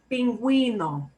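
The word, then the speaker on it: pingüino: We want you to actually pronounce this U sound instead of making it silent. And it doesn't happen in a whole lot of words. So only know it exists.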